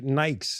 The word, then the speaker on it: Nike: UK people are like it's Nike you saw everybody says Nik in the UK everybody I know says Nike you're the only person